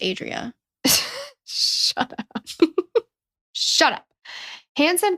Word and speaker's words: Andrea: It's actually pronounced Adria.